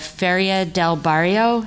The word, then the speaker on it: Feria del Barrio: Through my research and reading, I have become particularly interested in the Feria del Barrio. Am I pronouncing that correctly?